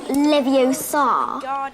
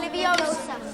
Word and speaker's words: Leviosa: It's Leviosa, not Leviosa. You do it then if you're so clever. Go on. Wingardium Leviosa.